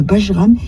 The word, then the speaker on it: Bajram: Le terme Bajram est issu du mot turc Bayram et se prononce en français comme lui.